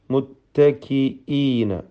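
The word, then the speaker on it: مُتَّكِئِينَ: ഹറക്കത്തിന്റെ അളവിൽ നിർബന്ധമായും ദീർഘിപ്പിക്കുക മുത്തക്കീന അവിടെ മുത്തക്കീന എന്ന് ഹംസ അവ്യക്തമായി പോകുന്നത് സൂക്ഷിക്കുക ഹംസയെ വ്യക്തമാക്കി തഹീഖ് ചെയ്ത് കത്തിന്റെ ഹംസ എന്നാണ് അതിന്റെ പേര് തന്നെ ശിദ്ധത്തിന്റെ ഹർഫാണ് മുത്തക്കീന എന്ന് വ്യക്തമാക്കുക തൻവീനിനെ ഇലാബ് ചെയ്യണം സാക്കിനായ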